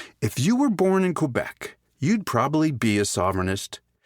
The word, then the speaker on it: Quebec: and just a reminder it's pronounced Quebec not Quebec like you all say the indigenous peoples